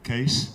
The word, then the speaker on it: Kees: So this is my name, Kees. It's Dutch. Double E is an A, so you pronounce it like just in case. Suitcase, headcase, etc.